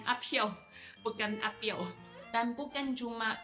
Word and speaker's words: Piao: So P-I-A-O. Itu bukan Piao, itu Piao. It's P-H-I-A-O. I am Apiao, bukan Apiao.